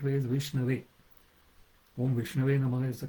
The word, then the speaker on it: Vishnu: The right way is Vishnu is the correct way.